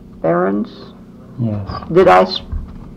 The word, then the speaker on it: Barends: i'm interviewing l barrons yes did i pronounce that right yeah okay that should be most of them call it burns it's barons yes okay let's